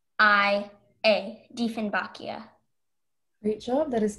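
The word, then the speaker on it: Dieffenbachia: Sentences, the Diefenbachia is an ornamental plant that is used fundamentally like an indoor plant. Are there any alternate pronunciations? Just the one, Diefenbachia. Diefenbachia.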